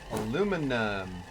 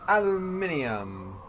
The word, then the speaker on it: aluminium: was the other requirement aluminum or for those of you who cross the pond as it said aluminium I don't understand why yall add in like couple of oh what are they called syllables into that it makes no sense to me why do you add syllables never mind find extra syllables completely inefficient I'm going